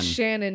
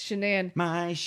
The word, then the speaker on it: Shanann: name shanann his wife she's a very weird pronunciation that name yeah it's not shannon it's shenan i had to kind